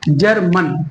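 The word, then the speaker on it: German: ठीक है, और ऐसे ही जो है जी के साथ में ई है तो यहाँ हम आ का प्रोनाउंसिएशन कर रहे हैं, यानी जा, सीधा जा ही बोलेंगे। जर्मन, है ना।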